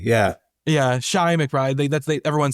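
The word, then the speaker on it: Chi McBride: His name is pronounced Shy. I always said Che McBride. I always called him Chai. Yeah. Yeah, Shy McBride.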